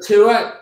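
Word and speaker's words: Tuath: So this is a Tua glass. Okay. So Tua, T-U-A-T-H.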